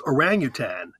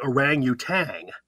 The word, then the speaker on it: orangutan: a good English rules is orangutan most people say orangutang they add the g at the end it's not there's no g at